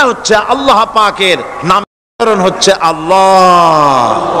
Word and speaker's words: আল্লাহ: আল্লাহ পাকের নাম হচ্ছে আল্লাহ মুখটা একটু গোল হয়ে যাবে বলেন আল্লাহ আল্লাহ পৃথিবীতে বিভিন্ন